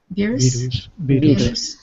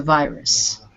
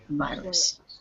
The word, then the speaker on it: virus: this word virus maybe that is the spanish pronunciation beerus okay and in english we use a long eye for the eye so it's a virus virus okay um number two yes read it please